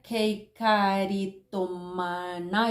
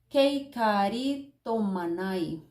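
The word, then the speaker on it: κεχαριτωμένη: las pongo por acá se pronuncia keikaritomana y algo así Kate karito manai esta palabra dice que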